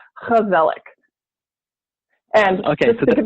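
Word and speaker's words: gezellig: it says gizelle Inc but it's a Dutch word and and Dutch that G instead of it being a girl it's a hook like an eight just to cough up a little bit there so it's Kubelik and okay so they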